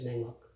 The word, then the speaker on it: Nanî: We need to maintain Otuho pronunciation by using, the letter N at the beginning of this word. It's Nanî.